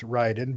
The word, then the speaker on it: Raiden: like to a lot even though they had raiden in there but i ended up liking raiden in the end even though he was naked for the first half of it it's pronounced ryden by the way ryden whatever uh was actually